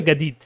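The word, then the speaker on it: جديد: হ্যাঁ, আমরা শব্দ পড়েছি না জাদিদ, যে জাদিদ শব্দ পড়েছি, জাদিদ মানে কি? জাদিদুন মানে হচ্ছে সুন্দর বা নতুন। তো মিশরে যারা, তারা জাদিদকে উচ্চারণ করবে গাদিদ, তারা জাদিদকে কি বলবে? গাদিদ বলবে।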